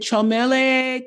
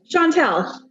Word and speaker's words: Chantel: Did I mispronounce your name? Chantel.